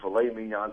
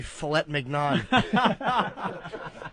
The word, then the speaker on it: filet mignon: I don't like the fact that the first time you said that word recently, it was probably filet mignon. You just wanted to say a word with a silent T to prove you could do it.